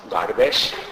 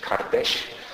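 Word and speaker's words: kardeş: It's pronounced, in Eastern Turkish it's pronounced Gardesh, in Western Turkish Kardesh.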